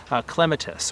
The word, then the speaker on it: clematis: And I know when I say clematis, that's immediately going to trigger some people because it's pronounced very differently. In British English, they would normally call it clematis or something along those lines.